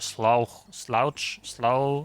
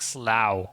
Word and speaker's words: Slough: Pronounced like Slough. Okay, Slough. Lovely name. Lovely name. I can only imagine what it's like then. Slough sounds more like slow. Rhymes with now.